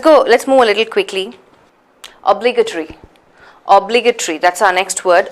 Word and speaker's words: obligatory: So it's ta, a, and then re, the 2 syllables. So T-O-R-Y is again separated into 2. It's actually a 5-syllable word.